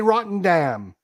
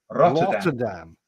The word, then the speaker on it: Rotterdam: But yeah, or that place in the Netherlands, Rotterdam. Yeah, Rotterdam. Was it called it Rotterdam? What's wrong with Rotterdam? It's called Rotterdam. What's wrong with the way I say Rotterdam?